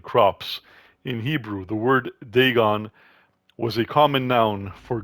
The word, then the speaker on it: Dagon: about thulu all right so Deon no it's pronounced Deon not denan so Deon was the main deity of the